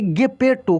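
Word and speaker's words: Geppetto: यहाँ पे देखिए ये वर्ड जो लिखा है GEPP, ठीक है, PPE और TO, इसको हम लोग पढ़ेंगे गेपेटो। क्या पढ़ेंगे, गेपेटो।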